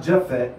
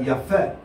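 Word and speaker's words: Japheth: Because there's no J in the original Hebrew language. Not Japhet, but Japhet.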